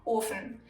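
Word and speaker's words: Ofen: because there's two F's if however the consonant is single the vowel in front of it is pronounced long like in orphan there's only one F so the O is long orphan if we add another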